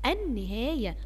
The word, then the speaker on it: النهاية: النهاية، النهاية، ها اللام، اللام دي شمسية ولا قمرية؟ تعال نشوف كده، أنا بقول إيه؟ النهاية، نطقت اللام؟ لا ما نطقتهاش.